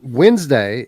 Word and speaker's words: Wednesday: thinking behind calling it West day I mean Wednesday is spelled witness day but no one calls it